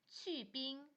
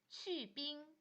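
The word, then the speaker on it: 去冰: 핑덕 빙 미지근한 것 원더 원더 얼음 빼기 치빙 치빙 얼음 적게 샤빙 샤빙 얼음 많이 어빙 어빙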